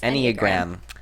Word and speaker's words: Enneagram: Me, Lauren, Millie, and Jackson had for class was that we had to take an Enneagram. Is that how you say it? Yes. Enneagram.